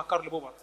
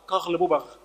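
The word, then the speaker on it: Karl Popper: فيلسوف وليس بعالم بالمناسبه هولا ينطقها كارل بوبر وينطقها قغل بوغ ولا ادري في اي يعني نطق هذا الكلام ربما هو تعلم مؤخرا فقط الصوتيات في اللغه الانجليزيه ربما هو يعني يستعيد امجاد الاستعمار الفرنسي فيريد يعني استعاده الامجاد بنطق بلهجه خطا هو يسمى ايها الجاهل كارل بوب وليس قغل بوب ندخل الان الى اي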